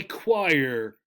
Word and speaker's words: choir: a very common problem a group of people singing is called a choir a choir right so in this we